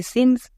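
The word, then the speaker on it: since: বাট এখানে ই কেন দিলাম? ই দিলাম সিকে সাপোর্ট করার জন্য, কারণ ই যদি না দিতাম তাহলে সি এর উচ্চারণটা কি হতো? কো হতো, মানে সিঙ্ক হয়ে যেত। তাই ই দেওয়ার জন্য সি এর উচ্চারণটা এখন সো হচ্ছে, তাই কি হলো? সিন্স।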